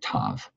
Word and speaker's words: Tav: Some people pronounce it Tav.